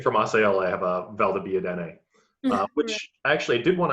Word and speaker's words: Valdobbiadene: What would you say defines the Asolo DOCG from the Valdobbiadene DOCG? Well, Valdobbiadene, sorry. I was pronouncing.